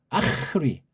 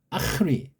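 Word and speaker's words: ἄχρι: 이격을 지배하는 전치사 든요 아크리 발음을 좀 정확히 해야 돼요 아리 아크리 아크리 자음이 연속되는 좀 뻑뻑하고 원래 이걸 잘라서 두 음절로 봐야 되잖아 그죠음 여긴 모음으로 시작한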